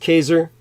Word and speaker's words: Caesar: Jews in 47 BC Julius Caesar correctly pronounced Kaiser from where we get